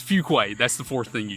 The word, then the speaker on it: Fuquay: Fuquay Fuquay or something yeah it's a Fuquay like f-e-w but have you ever